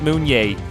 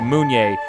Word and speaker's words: Mounier: our guest is Matt moon yay and the way you pronounce his name is you look at the moon and say yay so moon yay that's that's his words